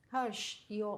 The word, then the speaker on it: Herrsh: Harsh, Yes, how do you pronounce it?